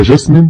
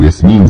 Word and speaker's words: ياسمين: اللي وقتها بنكتشف انها الاميره جاسمين او ياسمين زي ما الاسم الاصلي بيتنطق، وانها كذبت على علاء الدين.